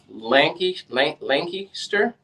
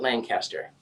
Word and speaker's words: Lancaster: Pronounced Lancaster, not Lancaster.